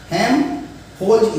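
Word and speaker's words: Helmholtz: और एल का मतलब प्रोनाउंसिएशन नहीं करते हैं, इसलिए हेल्म ना पढ़ करके पढ़िए हेल्महोल्ट्ज इक्वेशन। और एक आएगा और जिसको बोल सकते हैं गिब्स फंक्शन।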